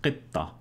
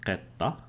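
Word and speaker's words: قطة: For example, in Moroccan, in Modern Standard, it's pronounced qitta. But in Moroccan, you have the same sequence, pronounced qitta. And in Egyptian, you have the same sequence, pronounced otta.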